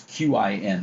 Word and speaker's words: Qin: It's Qin, but I think in Chinese the Q is pronounced as Ch.